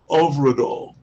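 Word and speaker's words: Hyfrydol: said to the director how do you pronounce h y f r y d o l and she said overall over it all so you can be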